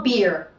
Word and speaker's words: beer: La cerveza no se dice beer. Recuerden de nuevo que tenemos la doble E y la pasamos a una I. Y es tan sencillo como beer. Beer. Pero no digan beer, ¿ok?